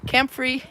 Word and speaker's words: comfrey: and i'll see if anybody got it right camp free i think is how you pronounce it c-a-m-f-r-e-y and you can use it